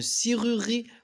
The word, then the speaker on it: serrurerie: المقطع الأول عبارة عن حرفين S E ينطق سي comme le mot serré. لماذا؟ لأن إذا كان أمامه حرفين متشابهين اللي هما R أو مجموعة من الفويال يقرأ سي. المقطع الثاني رور ينطق رور comme le mot rural. انتبهوا أصدقائي، لا ينطق هنا، لا ينطق. المقطع الأخير ri comme le mot rime. Et attention, ne se prononce pas.